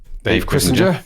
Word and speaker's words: Chrisinger: He told me it rhymes with Kissinger, his name.